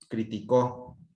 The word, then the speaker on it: criticó: Y en cambio, si ahora se lo pongo en la O, en co, criticó en pasado.